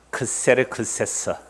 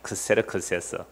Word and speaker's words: 크세르크세스: 아하수에로는 히브리식 발음이고요. 헬라식 발음은요. 크세르크세스. 크세르크세스.